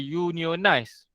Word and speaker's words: unionized: If plumber, dia akan cakap sebagai unionized. Union, persatuan kerja nak dapat gaji dia ke apa something tu lah. But for chemist, they will say as unionized.